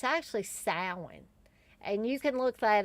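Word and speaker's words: Samhain: for sam uh salmon yeah i almost said sam hayne because for years i thought sam hayne was how you pronounced it but it's actually sound and you can look that up on the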